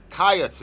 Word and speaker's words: Kyuss: Kyuss is how you would pronounce it.